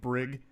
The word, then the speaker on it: Briggs: I knew a kid growing up named Brig, Hard G, which I actually like better, though more likely to be mispronounced.